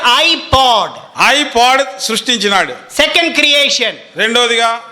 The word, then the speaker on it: iPod: It is spelled POD. పిఓడి, ఐపాడ్. Don't say PAD, it becomes pad. పిఏడి కాదు, So it is iPod.